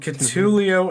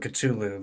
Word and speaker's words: Cthulhu: And there's one who now has made canon in my D&D universe a romance book called Cthulhu and Bardiet.